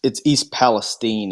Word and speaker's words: East Palestine: Well, it's East Palestine if you're from Ohio, which I am not, but I know that that's how they pronounce that town.